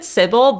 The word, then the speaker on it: Cibele: or Cil it's uh I pronounce it Syble but like I feel like people have all sorts of pronunciations for it so I'm okay with like anything cuz it's also a name like in different parts of the world in different languages whatever works but I say Cil personally so I guess